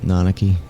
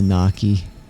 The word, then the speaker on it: Nanaki: that into my head how to pronounce it nanaki not the Naki like I always used to when I was younger nanaki nanaki okay that's